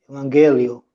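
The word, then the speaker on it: Ευαγγέλιο: Because the emphasis, I will take it from here too and put it over there. It's on the E. It's not on the iota as it is here. It is on the E. So to read that one, we say Evangelio.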